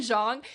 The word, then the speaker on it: Zhang: The partnership between Pahua and one of the other main characters, Zhang, is that Yes, proper that is pronunciation? perfect. Yes. Pahua and Zhang is so delightful.